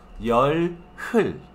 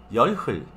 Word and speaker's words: 열흘: Esa hyung suena como J, pero muchas veces no suena tan fuerte que es casi imposible de percibir, ¿sí? Así como en este caso, yol hul, yol hul, ¿sí?